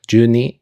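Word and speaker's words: 十二: And then ni is 2, so ju ni is 10, 2, and that's how you say 12 in Japanese. And then she says ji, which is like o'clock, so juniji, 12 o'clock.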